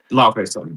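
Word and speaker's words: Laufeyson: Next, Loki, Lofferson, the Fierce Son. I still don't know how to pronounce that. Laofey Son.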